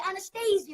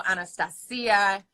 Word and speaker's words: Anastacia: But different countries, and because of the CIA at the end, people are so confused. So they go Anastacia, Anastacia, well, if you're from Asia, you go Anastacia because you can't pronounce the C.